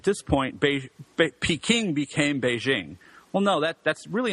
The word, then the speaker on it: Beijing: that's really not true Peking is how you say the name of the city in some mainly southern dialects Cantonese Beijing is the Mandarin way to say it same with Nanchang and